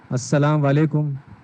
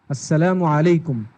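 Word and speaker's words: السلام عليكم: का लफ्ज बोला है, अस्सलाम वालेकुम, ये लफ्ज नहीं है अरबी में. देखिए, इंग्लिश का हम प्रोनाउंसिएशन सीख रहे हैं तो अरबी का भी सही होना चाहिए. अस्सलामु, आखिर में मीम है अस्सलामु, और उसके बाद वाव नहीं है, आइन से अलैकुम, अस्सलामु अलैकुम.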